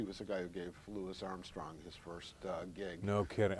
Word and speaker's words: Louis Armstrong: I love, by the way, I love that you pronounce it Louis Armstrong. Have you heard how he responds to people who call him Louis Armstrong? No. He always said, my mother didn't birth a Frenchman.